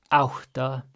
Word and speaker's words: átta: Then átta. A with an accent is ow. We have our double T's, so we're going to have that pre-aspiration. And then A is just ah. So átta, átta, níu.